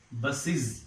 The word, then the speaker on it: buses: When it is made plural, buses. In ordinary spelling, we use it as buses, but actually it is not buses. What is it? It is buses. Is. Here, this ES is pronounced as is.